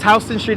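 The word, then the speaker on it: Houston Street: me on his background noise appreciate that yes houseon street is named after the Dutch family that owned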